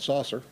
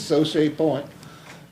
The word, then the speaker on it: Sochet Point: Sochet Point Commercial Subdivision, in case anybody was wondering how that's pronounced. I guess if you're a redneck, you'd call it saucer. But anyway, it's Sochet Point.